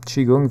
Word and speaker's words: qigong: energies and if you guys see my um chiong videos I have a short chiong video which